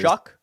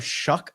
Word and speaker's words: Shough: Oh God, his name is Shuck. Is his name Shuck? It's spelled weird. Yeah, it's spelled Shough, but he's out of Louisville. Tyler Shuck, I think he pronounces it.